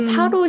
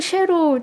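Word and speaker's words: शेरू: 실제로는 사루가 아니라 쉐루인데 쉐루가 인도어로 라이언, 사자라는 뜻을 가지고 있다고 합니다.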